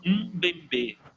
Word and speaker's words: Mbembe: cara que é o Bembe. Me fugiu da cabeça agora o primeiro nome dele, mas se escreve com Mbembe, com um M no começo, Bembe, Mbembe. Bembe, ele é um filósofo